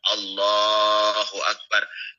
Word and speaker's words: Allahu Akbar: Cara bacanya yang panjang adalah Allahnya, Allahu Akbar. Selainnya tidak boleh ada yang panjang. Kalau sampai ada satu saja selain Allahnya yang panjang, maka takbirnya tidak sah.